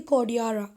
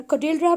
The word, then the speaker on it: Cordillera: सो बेटा जब आप इसका कॉर्डिलरा का गूगल पे प्रोनाउंसिएशन देखोगे तो वो क्या बोलती है, कॉर्डियारा. क्या बोलती है स्टूडेंट्स, कॉर्डियारा. तो बोलना भी इंपॉर्टेंट है, बोलने से ज़्यादा थोड़ा सा स्पेलिंग पे भी फोकस करना. आपकी टीचर इसको कॉर्डियारा बोलती है तो यू जस्ट टेल इट कॉर्डियारा, और कॉर्डिलरा बोलती है तो कॉर्डिलरा.